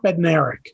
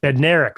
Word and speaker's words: Bednarik: How do you say that again? Chuck Bednarik. Bednarik. Okay, I was making one of the consonants silent.